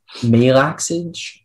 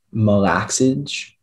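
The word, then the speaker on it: malaxage: again yes the word is melaxage also malakage it's a noun that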